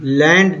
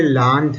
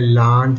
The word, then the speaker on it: Land: लैंड नहीं है बच्चे, ये लैंड है, लैंड. ये आ साउंड है, ए साउंड नहीं है ये.